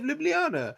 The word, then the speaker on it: Ljubljana: We got to Liblana and we got there like midnight and I was like, "Oh, let me show you a bit of Ljubljana."